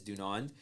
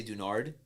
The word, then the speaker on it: Dunand: But, like, pronunciation is Dunand. But Yeah. no one ever pronounces it that way. It's always Dunand. People somehow will change the last N to an R, so they'll say Dunard.